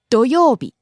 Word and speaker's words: 土曜日: 金曜日 Next, 土曜日 Saturday. 土曜日土曜日 Rising on the second syllable and falling on the second to last syllable.